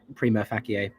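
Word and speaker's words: Prima Facie: so far I see latin-wise I would also pronounce it uh Prima fakie best actor in a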